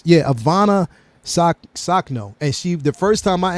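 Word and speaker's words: Ivanna Sakhno: read it off because I think it's Ivanka. What is it? No, it's Ivana Sakno, and the first time I actually seen it, because I went back and watched it again.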